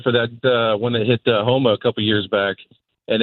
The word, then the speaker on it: Houma: I was down in Louisiana for that when it hit Houma a couple years back, and it was super creepy to show up out there help my niece, and nothing has power on.